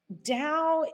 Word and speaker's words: Tao: don't know what is dao dao so um dao is a concept it's a chinese word so the t is pronounced as a d um you know and